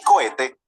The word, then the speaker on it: cohete: Te dice, hey, ten cuidado con la H, que es una letra que no tiene sonido. Por eso decimos humo, hormiga y cohete.